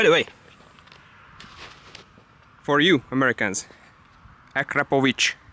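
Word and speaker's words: Akrapovič: By the way, for you Americans, Akrapovic, hear it? Akrapovic, that's how you pronounce it. Not Akrapovic, stuff like that.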